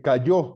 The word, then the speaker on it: cayó: Se cayó durante todo el juicio, no dijo una sola palabra, como lo están viendo. C-A-L-L-O, acento en la O.